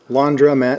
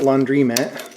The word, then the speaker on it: laundromat: way they are but it is laundromat not laundry mat yes it is laundry but it is still pronounced londra i don't know like